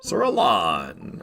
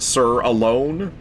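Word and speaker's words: Alonne: I've heard people make pretty uh pretty convincing arguments that it's pronounced it actually is pronounced sir alone. I'm just going to keep saying Sir Alon. I'm sorry. It's got two ends in it.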